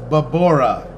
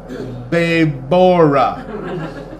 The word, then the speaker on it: Babora: It is Babora. Babora. She corrected him, her 17-pack of abdominal muscles flexing as she punctuated each syllable. Babora.